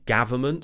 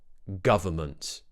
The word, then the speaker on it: government: a and they say government for example just remember to keep quite a neutral mouth quite relaxed and just open it the lips slightly open the jaw slightly watch my mouth uh G government don't forget the lovely